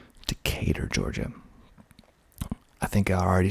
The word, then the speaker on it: Decatur: it's cooler and cooler it's greater in decatur that's another one decatur decatur georgia i think i